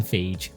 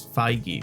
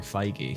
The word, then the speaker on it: Feige: for a long time I called him Fage I've always thought it was feige but I've never been sure no I all I've all the way the only pronunciation I've ever heard is actually feige so I think you're right it's still just won